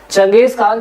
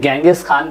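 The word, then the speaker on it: चंगेज़ ख़ान: आपका चंगेज खान है चंगेज खान जैसे कहीं कहीं गंगेश खान भी प्रोनाउंस किया गया है तो आप ऐसा ही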